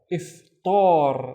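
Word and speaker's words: إفطار: Remember, Hamza with the kasra is e, right? So this is if, and then tar, iftar, and iftar is the Ramadan breakfast.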